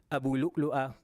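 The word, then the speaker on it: أبو لؤلؤة: Yeah, Abu Lu'lu'a, okay? Abu Lu'lu'a. So you probably hear people also pronounce it as Abu Lu'lu.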